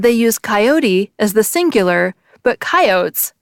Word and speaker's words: coyote: The Imperial Dictionary by John Ogilvie, published in 1885, an extension of Webster's original dictionary, shows 2 pronunciations, with the coyote pronunciation first.